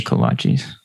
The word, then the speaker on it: kolache: Which I pronounced wrong for a while before somebody finally corrected me. So. Yeah. Luckily, my wife she grew up in Houston, so I learned early on it's a kolache.